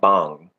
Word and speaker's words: bhang: is connected with cannabis, and in that culture they call it bang, which is spelled Bhang, Mhm. bang, and Lord Shiva is also considered the Lord of Bang, and he Mhm.